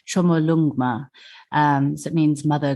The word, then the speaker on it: Chomolungma: local name so well Tibetans call her and um this is my pronunciation which I hope I get right chomolungma um so it means